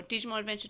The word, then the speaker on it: Digimon Adventure:: digimon adventure colon or digimon adventure 2020. uh the colon is actually not pronounced so it is digimon adventure but to in order to